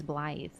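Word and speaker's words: Blaidd: get the pronunciation because the double D is a th sound, like a th, right? So I couldn't quite parse it, but no, his name is Blythe. Just Welsh.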